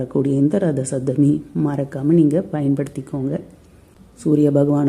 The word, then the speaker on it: ரத சப்தமி: ரொம்ப பிடிச்சிருக்குன்னு போது மறக்காம கமெண்ட்ஸ்ல சொல்லுங்க சப்தமி சப்தமி ரத சப்தமி சப்தமி சப்தமி ரத சப்தமி சப்தமி சப்தமி ரத சப்தமி சோ இத நீங்க தொடர்ந்து உச்சரிங்க